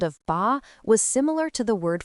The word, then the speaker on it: 八: This character is pronounced ba.